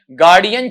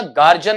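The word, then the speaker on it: Guardian: जीता, जिसका नाम है गार्डियन चिल्ड्रंस फिक्शन प्राइज, ठीक है। इसका उच्चारण सुन लेना, गार्जियन नहीं है, गार्जियन नहीं है, बल्कि बेटा वहां पर क्या है? गार्डियन है आपका, ठीक।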